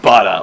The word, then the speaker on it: butter: 1920 like my grandma she says but like like bada like the thing you spread on bread butter like butter um but butter I would say butter and it's if you